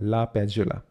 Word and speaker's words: LaPadula: and leonard la pejola a lot of people have difficulty pronouncing it even i wasn't sure the first time but when i checked it it's called la pejola okay great so what